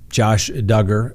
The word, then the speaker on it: Duggar: and gentlemen that's right josh duggar rhymes with hugger as you all know